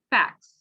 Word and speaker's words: facts: s to become plural so fact we'll say the t sound but when we add an s facts it ends up emitting